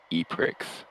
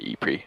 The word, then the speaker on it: E-Prix: The inaugural Ion Formula E E-Prix. Or actually, sorry, E-Pre, my bad.